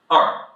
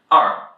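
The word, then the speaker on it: 二: the "e" sound is a bit different from the way pronounced in English it's a bit about this er sound so èr, èr.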